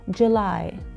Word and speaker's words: July: اليو بحرف تموز لفظناها كتير كتير كتير خفيفه، يعني كانك عم تنتقل من ال J إلى L مباشرة. July.